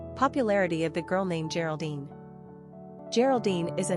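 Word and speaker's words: Géraldine: The French Geraldine is pronounced Geraldine.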